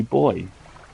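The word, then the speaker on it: buoys: those are just two booies right also I want credit for the American pronunciation on those Oh you mean the correct pronunciation know the correct pronation would be boy oh rocks well it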